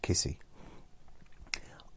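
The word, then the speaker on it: Giusy: And it's spelled G-I-U-S-Y, but it's pronounced Kissy.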